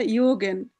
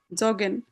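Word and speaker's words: joggen: তাহলে এটা উচ্চারণ হওয়ার কথা ইগেন। কিন্তু না জগেন।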